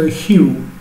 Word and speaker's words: hue: Abbiamo preso una mela qualunque da Google Immagini e per fare questo dobbiamo parlare di un argomento che viene definito hue, viene pronunciato così in inglese, lo hue.